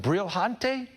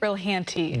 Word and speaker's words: Brilhante: I always have a hard time pronouncing it, like Brilhante? Brilhanti. Brilhante. Yeah. Is that French? No, it's Portuguese. Brilhante.